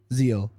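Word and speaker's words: Ziehl: Zil. Z I E H L. Oh, it's not spelled the name. That's spelled the same as Todd.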